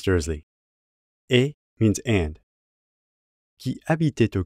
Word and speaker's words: habitait: Since au begins with a vowel, we end up with liaison and have to pronounce the T on the end of habiter. Habitait au.